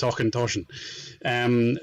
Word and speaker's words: Auchentoshan: I had to laugh at him, and then I had to remind him he's from Scotland and should know that it's Auchentoshan.